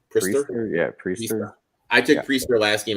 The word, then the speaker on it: Priester: Yeah, Priester.